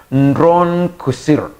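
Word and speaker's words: נרון קסר: kwa kiania kwa kirania wao walikuwa wanamtamka Nron Kusir ndivyo walivyokuwa wanamtamka kwa lugha ya kwao sasa kama unavyoona hapo kwenye PowerPoint nimeandika kwa lugha ya kihebrania na jinsi ambavyo inatamkwa.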